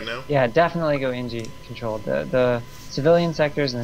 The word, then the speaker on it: Engi: Yeah, definitely go NG controlled.